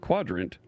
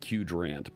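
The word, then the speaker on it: Qdrant: Use a vector database like Quadrant. Right? Looks like Q rant, but it's pronounced quadrant is a smart move, especially if you want semantic search over product data and user questions.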